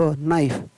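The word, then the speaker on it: knife: व आई फ वाइफ, के एन आई एफ ई, तो यहाँ पर जी के और एन साथ में आता है, वहाँ पर के साइलेंट रहता है, तो यहाँ पर होगा उसका न आई फ नाइफ, के एन साथ में है तो यहाँ पर के वो साइलेंट रहेगा, उसका उच्चारण नहीं होगा।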